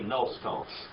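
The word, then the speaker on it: gnoston: Actually, if we pronounce it right, we would swallow the gum, which would be nos tone.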